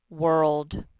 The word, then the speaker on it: world: And this last one says world. It's tricky. The O says nothing.